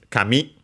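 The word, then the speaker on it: 紙: other languages but yes this is kami accent last syllable means paper so literally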